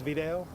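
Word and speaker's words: Vidal: Could we just get the proper spelling and pronunciation of your first name? First name is Videl and last name is.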